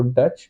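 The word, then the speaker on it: Dutch: अगर हमें लिखना हो डच डी यू टी सी एच अब टी के लिए कुछ नहीं बनेगा क्योंकि टी साइलेंट है तो डी बनाया ऑन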